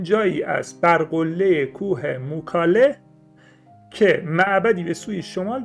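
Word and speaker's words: Mycale: اونم چیزی نیست جز کوه موکاله که توی لفظ انگلیسی و یونانی میکله تلفظ میشه، که این میکله خیلی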